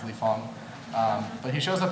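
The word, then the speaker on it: Lee Fang: racist if you pronounce his last name which is spelled f is Fang you're racist because you're supposed to know that it's Le Fong um but he shows up everywhere and he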